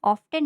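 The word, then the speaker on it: often: ऑफेन का meaning होता है अक्सर। ऑफेन में टी साइलेंट होता है। इसको हम ऑफेन ना बोलकर ऑफेन बोलते हैं।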